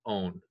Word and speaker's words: one: We cut the E off of our parent hydrocarbon and replace it with one, O-N-E, pronounced own.